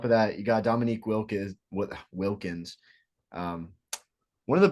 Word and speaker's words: Wilkins: me Michael Jordan okay Dominic Willis is not how you say it yeah Dominic Willis and then Julia it's Wilkins Wilkins oh it's Wilkins uh